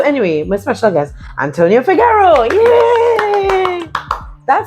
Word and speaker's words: Figuero: So anyway, my special guest, Antonio Figarero. Yay. That sounds so good phonetically. Antonio Figaro. Figarero.